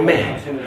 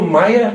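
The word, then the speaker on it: ماية: It is not pronounced the same way in any other Arabic country. If you went to Saudi Arabia, they would say Ma or Meh. Only in Egypt is it pronounced Maya.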